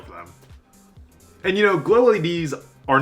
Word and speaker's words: Glow-LEDs: that i kept saying glow led in my last video and apparently it's pronounced glow leds with a plural so sorry kurt okay